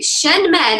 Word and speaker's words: Shen Men: So Shen Men and Nei Guan.